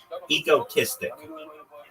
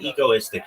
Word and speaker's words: egotistic: Egotistic. Egoistic. Not Not egoistic. Egotistic.